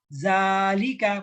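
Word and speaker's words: ذلك: Berikutnya kata zalika, panjang ya. Zalika.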